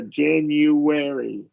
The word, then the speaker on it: January: And we're going to do a short E here. January.